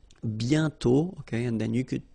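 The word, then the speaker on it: bientôt: pronounce it and then the final T is not pronounced BTO okay and then you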